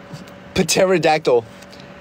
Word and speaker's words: pterodactyl: Pterodactyl. The P is silent.